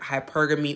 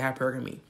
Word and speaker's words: hypergamy: concept and hashtag hypergamy you can also pronounce this word hypergamy or hypergamy i pronounce it hypergamy because that's my business according to women's health